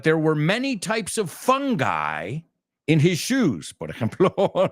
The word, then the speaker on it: fungi: Fungi es el plural, que suena como un tipo divertido. Why? I'm a fun guy. You've all seen it cuando pedís la pizza fungi. Well, we pronounce it fungi.